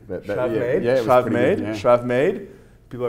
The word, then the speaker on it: Schravemade: How do I pronounce that? Schravemade. Schravemade?